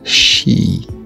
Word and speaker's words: chi: Ce X qui se prononce avec le souffle d'un battement d'aile d'un papillon et se prononce chi.